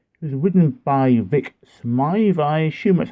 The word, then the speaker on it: Smythe: It was ridden by Vic Smythe. I assume that's how you pronounce the surname. It's Smyth. It could be pronounced Smith or Smythe.